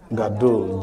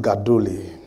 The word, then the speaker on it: gadol: Gadol. G-A-D-O-L. Gadol. G-A-D-O-L. Say gadol. Gadol. G-A-D-O-L. But you can pronounce it gadole.